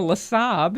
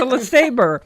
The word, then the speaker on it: LeSabre: you don't say I'm driving a LeSaab. You say it's a LeSabre.